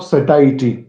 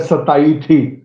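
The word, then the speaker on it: satiety: That is point of सटाइटी। इट इज सटाइटी, don't pronounce it एज सताइथी, कोई किसी को नहीं सता रही है।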